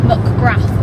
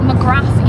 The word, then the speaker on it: McGrath: it was McGrath Dental mcrath Dental but he's Irish and it's pronounced McGrath mcra MRA mcrath no mcra mcra M it's not McGrath you don't pronounce the th it's just mcra and